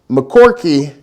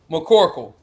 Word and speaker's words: McCorkle: hands and we've got jackson mccorky did i get that correct mccorkle mccorkle sorry for that mispronouncing of the ntx bills